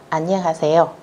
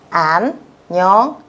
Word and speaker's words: 안녕하세요: gặp nhau đó là 안녕하세요. Các bạn chú ý cách đọc của nó nhé. 안녕하세요. Thông thường câu này thì người ta thường hay lên giọng một chút các bạn nhé.